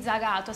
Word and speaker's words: Zagato: Si dice così Zagato, si pronuncia Zagato.